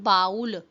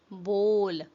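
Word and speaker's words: bowl: pronounce the word बोल इट्स नॉट बाउल इट्स बोल बोल हाउ डू यू प्रोनाउंस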